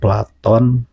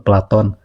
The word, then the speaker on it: Platon: Tapi di dalam kitab Tahaput ini Al-Ghazali kemungkinan hanya membatasi Aristoteles ya, kemudian Platon, kita menyebutnya Plato ya. Tapi yang betul itu sebetulnya pelafalannya itu Platon.